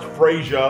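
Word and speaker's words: Frazier: That's how you spell my name, pronounced Frasier.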